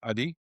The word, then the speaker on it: Adi: Adi?